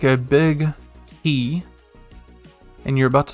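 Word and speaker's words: い: e good job and remember it's typed i but it's pronounced e and we'll see this several times going forward typed i pronounced e next up we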